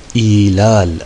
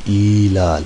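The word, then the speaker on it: إعلال: Bunlar arkadaşlar ilal adı verilir. İlal. Yani Arapça i'lal diye okunur da ilal diyelim biz Türkçe.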